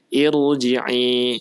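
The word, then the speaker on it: ارجعي: Asalnya dia tidak berharokat, namun cara membacanya yaitu mengikuti kaidah ya huruf ketiga setelahnya. Jadi ketika huruf kita lihat huruf jim di situ kasroh, maka hamzahnya dibaca dengan kasroh. Jadi dibaca dengan irji'i.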